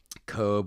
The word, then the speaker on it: Cobh: I went to another little town called Cobe, which is right next to Cork. Cobe is absolutely beautiful. You have to Google it. Yeah, How do you spell it? COBH. It's a weird way to spell it, but.